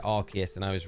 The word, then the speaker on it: Arceus: And someone says, well, you don't say, like, you know, in Legends Arceus, you get the phone, which is called the Arc phone, right? So you don't say the Arc. It would, if you pronounced it how I would have pronounced it, it would be the Arse phone.